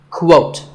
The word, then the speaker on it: quote: is the word quote this is not pronounced the same as coat the correct way to say it is with a kua sound at the beginning quote similarly we have quotation